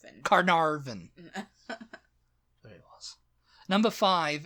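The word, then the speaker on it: Caernarfon: people who because it's it's not spell the way it sounds c a e r n a r f o n Carvin Carvin carar Carin Carvin there it was number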